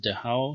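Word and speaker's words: דהב: Targumic Aramaic you find dahav or dahau. Okay, I should pronounce it dahau, so don't be surprised.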